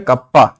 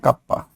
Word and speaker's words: kappa: 1 बाई रो मतलब resistivity का reciprocal क्या है, कंडक्टिविटी, डिनोटेड बाई कप्पा, ठीक है। इसका प्रोनाउंसिएशन क्या है, कप्पा, KAPPA, कप्पा।